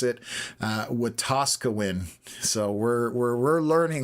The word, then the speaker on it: Wetaskiwin: So I now know how to pronounce it. Wetaskiwin.